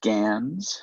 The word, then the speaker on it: GAN: Ghent generative adversarial networks which is abbreviated and as Ganz and pronounced ganz but when the task